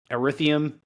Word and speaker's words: Ethereum: Ethereum.